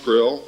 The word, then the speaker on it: Krll: His name and title was His Omnipotent Highness Krill, pronounced Krill, spelled Krll or Crll.